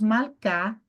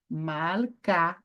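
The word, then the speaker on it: מלכה: Tá, então, aqui nós temos Malcá, que é rainha. Malcá, rainha. Agora, perceba que eu não pronunciei o re, e na transliteração eu não transliterei aqui porque vocês já estão aí no intermediário, né?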